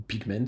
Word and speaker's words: Pigment: macros de du synthétiseur pigment qui est un synthétiseur de ou pigment si on prononce ça à à l'anglaise qui est un synthétiseur